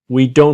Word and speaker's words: don't: What I want to show you in this module is the T is silent. I, you, we don't have.